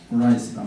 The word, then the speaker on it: rice: 그런데 로렌 라이스란 말이 나오죠. 라이스는 뭔지 알죠? 자, 여러분들 벼 영어명으로 이름 한번 불러보세요. 뭐라고 합니까? 다시. R은 풀려야 되죠. 혀를 말았다가 불려서 라이스.